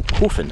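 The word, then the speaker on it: Coeffin: about it called Castle coffin which is spelled like coffin but with an e in it so immediately it sounds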